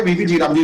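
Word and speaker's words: VB-G RAM G: Short form में वीबी जी राम जी इसको हम प्रोनाउंस करते हैं।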